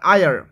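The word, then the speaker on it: heir: এইচ আই ই আর আই আর এইচ two silent হয় আই আর আই আর মানে কি হয় উত্তরাধিকারী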